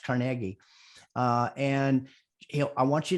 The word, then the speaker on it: Carnegie: people by dale carnegie i used to think it was carnegie but it's pronounced carnegie uh and i want